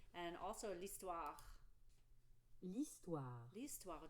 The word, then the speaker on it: l'histoire: L'histoire. Do you see that H is silent, right? It acts like a vowel.